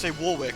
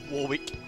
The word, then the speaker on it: Warwick: have Warwick in it, because they'd always say Warwick, and that made me upset. It's the dangerous alchemist, Warwick. Fuck you. It's not how you say it. Warwick. Yeah, literally. It's an actual city name, just look it up.